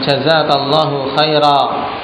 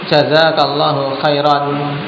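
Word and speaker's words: جزاك الله خيرا: Ini kalau yang gak belajar banyak kelazakallah khair. Ini juga salah. Nah. atau jazakallahu khairon. Ini juga keliru ketika apa mau mengucapkan dengan pengucapan yang benar. Tapi jazakallahu khair wakafnya. Betul.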